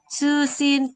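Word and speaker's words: 通信: Ditulisnya Tsu U Sien, dibaca Tsu Sin.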